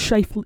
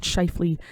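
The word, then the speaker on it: Schaefer: It's Sha, not Shyley. Schaer uh play.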